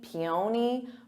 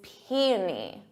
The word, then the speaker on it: peony: When I see the spelling, I want to say peony, peony, but it's peony. Peony. So emphasis on that P, peony.